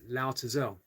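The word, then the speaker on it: Laozi: So supposedly Lao Tzu says Lo Zi, which is the pronunciation, I guess, in Chinese. Lo Zi is a dragon, and I'll never understand him.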